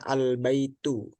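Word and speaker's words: البيت: enggak pakai alif lam Tapi kalau pakai alif lam bacanya albaitu Nah di sini kita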